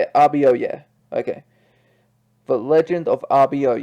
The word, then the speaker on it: Abioye: yay oh and they've pronounced they are ah ah b r wait rb oh yeah so that's how you say it rb oh yeah okay the legend of